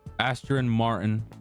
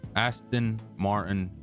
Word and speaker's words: Aston Martin: We got the Astro the Astron Martin. I was pronouncing it wrong the last time we did this. The Aston Aston Martin DBX.